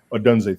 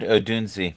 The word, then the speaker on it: Odunze: Rome or Dunze or Oduns, however you pronounce that, against the 49ers. Rome Dunze. Odunze, thank you. The Bears offense. I've also heard Odunzi, but go ahead.